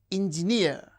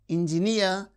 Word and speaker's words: engineer: And these words mountaineer, engineer. So, words that end with uh the suffix near receives stress on the suffix itself. Mountaineer, engineer, pay, refugee.